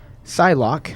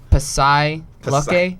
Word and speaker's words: Psylocke: as Psylocke. Hopefully, I'm describing it right or pronouncing it correctly. That's correct. Sweet. For XMen Apocalypse in it's not- 2016. You mean so it's not Pasai Lucky?